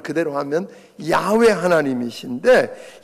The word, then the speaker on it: 야훼: 여호와라고 번역되어 있는 소위 야훼, 발음을 그대로 하면 야훼 하나님이신데 이 야훼 하나님, 여호와 하나님은 영원하신 분이다.